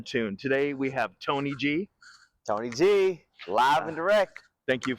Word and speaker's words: TNYG: So TNYG is how it's spelled, but it's pronounced Tony G.